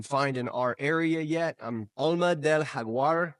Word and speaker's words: Alma del Jaguar: Alma del Jaguar is how you say that name, but a lot of people call it Jaguar.